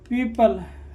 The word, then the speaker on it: people: कंबाइनेशन हो, वहाँ पर क्या हो जाएगा, वो साइलेंट होगा, ठीक है। जैसे जैसे PEOPLE, पीपल, है ना, यहाँ क्या हो जाएगा, पीपल।